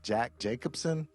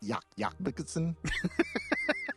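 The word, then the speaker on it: Jac Jacobsen: norway by a guy whose name looks like jack jacobson but it's pronounced yak yak bikerson are you all right did you do were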